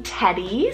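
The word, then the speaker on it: Teddie: prosperity I also have this sweet neutral name Teddy spelled t-e-d-d-i-e Teddy love this boy's name for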